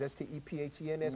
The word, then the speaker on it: Stephens: Spells like Stevens, S-T-E-P-H-E-N-S, but it's pronounced Stephens.